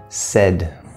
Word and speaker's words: said: say by the way this word said the only difference between this word and this word it's T or D this is actually the same sound I know it's spelled AI that that's English that's an exception common exception in terms of spelling we'll come to the